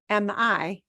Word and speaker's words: mi: The word mi is spelled M-I because we pronounce every letter as it should be in Spanish.